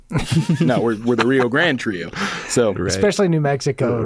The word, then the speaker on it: Rio Grand: And I guess one thing we didn't mention, Rio Grande without the E. We used to go by Rio Grande Trio, and it was spelled like the river, but Yeah. everyone introduced us as the Rio Grande Trio, and we're like,